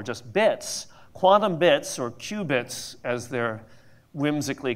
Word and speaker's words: qubit: I still think of that as a qubit, but you know, a quantum bit is now a qubit, spelled with a Q.